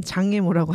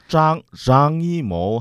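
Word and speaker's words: 张艺谋: 중국어는 그 지읒과 쌍지읒의 구별을 하지 않아요. 네. 빵 중국어로 말하면 같은 음으로 들어요. 중국 사람들은. 그렇죠. 글자는 다른 건가요? 네. 같은 발음이에요. 그러니까 짱이모 하든지 짱이모 하든지 같은 발음으로 들어요.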